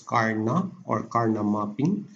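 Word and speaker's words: Karnaugh: of karna mapping so that is pronounced as karna so in karna map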